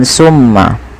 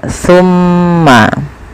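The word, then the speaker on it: ثُمَّ: hati-hati teman-teman dalam pelafalan jangan sampai dibaca dengan Sin ya Jangan dibaca dengan tmma tapi dia tumma pakai Sa bukan pakai Sin ya pakai Sa bukan pakai Sin bagaimana sa itu saalah ujung lidah kita nempel dengan gigi seri sambil agak digigitdikit ya tumma tumma tumma maka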